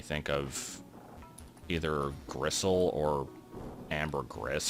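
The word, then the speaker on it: ambergris: of either gristle or Amber Gris from Futurama which I'm pretty sure is actually pronounced Amber Gree but um can we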